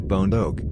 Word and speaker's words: bondoc: of Romanian folklore, while the specific epithet bondoc, pronounced like bondoc, meaning a squat, chubby individual, refers to the small, robust shape of the animal.